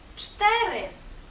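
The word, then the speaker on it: cztery: шибко швидко шибко ш це з читаємо як ч ч наприклад у слові чотири чтири чтири ч буквосполучення це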